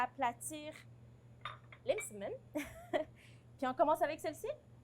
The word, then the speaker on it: msemen: pause, vous avez su maîtriser l'étymologie et la prononciation de nos galettes, à savoir les msemen.